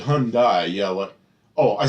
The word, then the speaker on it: Hyundai: a brand new yeah Hyundai CRI rhymes with sunde didn't I say Hyundai um yeah it was